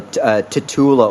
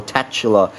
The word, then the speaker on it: Tatula: premium version of D was incred ibly popular tatula or tatula uh reel whichever part in the world you